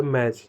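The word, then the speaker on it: match: यानी कि कभी भी किसी वर्ड के अंत में टी सी एच एक साथ में हो तो हम टी को प्रोनाउंस नहीं करते।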